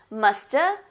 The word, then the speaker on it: musta: A instead of have. Shoulda, should have, musta, must have.